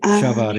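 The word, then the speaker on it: שָׁבַר: 샤바르, 이게 정확한 표현입니다.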